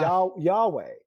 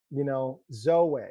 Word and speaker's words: Zoweh: Yahweh. Zoweh. It's pronounced like Yahweh, and so yeah, that's how